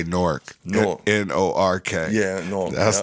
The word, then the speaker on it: Newark: just like you gotta say Newark no n-o-r-k yeah no that's the name of the place it's not newer it's not Newark it's not that's in Delaware